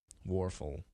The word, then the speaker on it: Wuerffel: coach a Heisman Trophy winner with quarterback Danny Wuerffel warfel I know how to say his name he